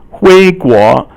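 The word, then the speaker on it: 回国: 回国, 我回国了. Okay, 回 is second tone, 国 is second tone, it means country.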